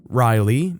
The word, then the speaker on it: Ryleigh: She suggested another name, Ryleigh (Riley, and again she did spell it out).